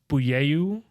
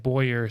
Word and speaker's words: Boyer: so than silvio um david wenham pronounces his last name booyeyou but it's like boyer so i don't understand